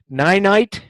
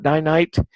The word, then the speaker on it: Ninite: But also, if you have not checked Ninite, and I've heard it pronounced different ways, but I call it Ninite, to install multiple apps.